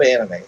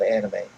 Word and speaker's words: anime: It's not AH. It's just an A.